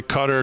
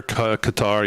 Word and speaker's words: Qatar: I pronounced it wrong. Cutter Qatar. Yes, I get it. You can say both ways.